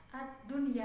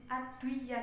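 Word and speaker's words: الدنيا: Kalau yang satu kata itu nggak diidghamkan, misalnya kayak ad-dunya gitu kan bacanya ad-dunya kan idhar, nggak ad-duya gitu kan nggak.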